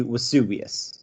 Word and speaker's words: Vesuvius: double v dublin no so in latin all vs are pronounced as ws right so if you were if you were to say the word vesuvius it would be vesuvius okay so so you